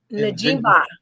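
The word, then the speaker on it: Njigba: Najimba. Like Jenga, Najimba.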